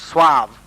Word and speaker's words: suave: A person who is very suave, suave, is pronounced suave, means polished, urbane, refined, sophisticated.